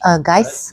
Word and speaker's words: Geist: Geist.